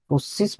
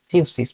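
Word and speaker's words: φύσις: ফুসসিস বা অ্যাকচুয়ালি ফিউসিস, মানে এরকম উচ্চারণটা PHUSIS এরকম। গ্রিক শব্দ ফিউসিস, এটা থেকে এসেছে।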